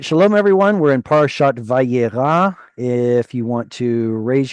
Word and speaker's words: Vayyera: There is a tsere in this first word. How do you pronounce it? Um, Vayyera. Very good. Vayyera.